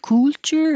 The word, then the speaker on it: culture: it a u sound culture is it a oh a sound culture you're not making any sound any vowel sound you're just making the sound of the L so my tongue here